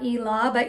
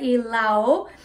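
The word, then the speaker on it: Ilaw: my pronunciation on that not elaba elao um this was my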